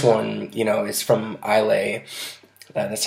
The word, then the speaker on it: Islay: found but this one you know is from Islay that's how you pronounce it I'll a it's an island off the west coast of